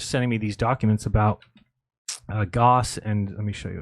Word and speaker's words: Gauss: G-A-U-S-S. Oh, you know. yeah, Gauss.